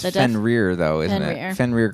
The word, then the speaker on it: Fenrir: the battle, and Bill is horribly wounded by Fenric. Is that how you said they pronounced it? I think so. The werewolf, I think it's the death- Fenrir, though, isn't Fenrir.